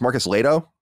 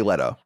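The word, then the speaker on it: Marcus Lehto: say his name wrong it's Marcus Leo yeah yeah that's right yeah because I I want to say Leto you know but it's not sure the H I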